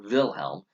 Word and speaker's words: Wilhelm: they do this and wilhelm ii looks at or Vilhelm and the w sometimes pronounced is a B I'm gonna doesn't matter